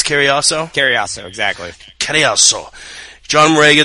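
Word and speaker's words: Cariaso: ] I I I swear to God I mispronounce his name Koso it's Koso Koso exactly Koso John Mora defeating Chris Koso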